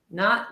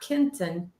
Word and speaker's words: Keaton: It's Keaton, not Kenton.